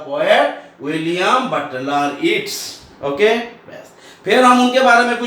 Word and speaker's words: Yeats: Butler Yeats, है ना, YEATS, ईट्स भी पढ़ता है, येट्स भी पढ़ता है, ईट्स एक्चुअली प्रोनाउंस होना चाहिए, ईट्स सूट ऊपर भी प्रोनाउंस ईट्स, हाँ येट्स भी चलेगा, हाँ जैसे मैं विलियम